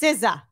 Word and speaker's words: SZA: Next up, we have SZA. Is that how you say it? Yes. SZA.